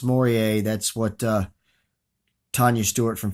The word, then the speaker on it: mooreae: the ofone of elma Maurier and it is pronounced Maurier that's what Tanya Stewart from pure not tarantula